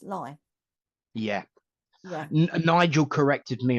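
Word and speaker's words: Leigh: place in Kent that it looks like Lee l e i g H but it's actually pronounced lie yeah yeah Nigel corrected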